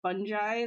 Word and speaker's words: fungi: make any sense because I keep hearing like like mushroom scientists say funi so it's not even fungi it's fungi that's how you pronounce it sorry random he's got